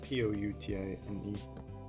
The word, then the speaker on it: poutine: statement you don't think putin is good and that's not it's not spelled the same protein it's a p-o-u-t-i-n-e poutine that was okay you get poutine from a poutine you're up north i love